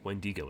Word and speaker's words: wendigo: the statues as depicting a wendigo or at Wendy go if you want to pronounce it properly hmm because wendigo are